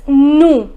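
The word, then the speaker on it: nous: pronouns the first is no the pronunciation is no will not pronounce the last consonant s okay so the meaning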